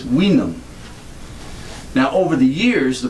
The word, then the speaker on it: vinum: And the reason why we get this word wine from vinum is originally this, which looks like our V, was pronounced like a W, and it was vinum.